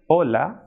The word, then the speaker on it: hola: So H in Spanish is known as H and it will be silent. For example, hotel, hola, ahora.